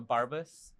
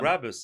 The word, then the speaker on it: Brabus: It's a Barbus. Yeah. Brabus.